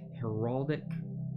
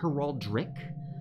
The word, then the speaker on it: heraldic: start off with our heraldic i always want to say heraldric um so hero but it's herald dick heraldic red that was